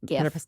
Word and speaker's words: GIF: And GIF. Hard G. It's Hard GIF.